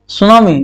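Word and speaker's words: tsunami: चौथा एग्जांपल, कितना एग्जांपल लिखे, सुनामी जानते हैं, सुनामी बहुत यहाँ टी साइलेंट होता है, इसलिए याद रखिएगा, सुनामी वेव।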